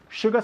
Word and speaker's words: sugar: Sugar se pronuncia sh y no sugar, ¿ok?